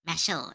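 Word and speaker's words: Mashle: Mashel Mashel, right? That's how you pronounce it.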